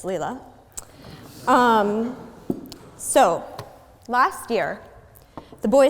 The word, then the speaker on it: Leila: very masculine thing and correct the pronunciation of my name which is Leela so last year the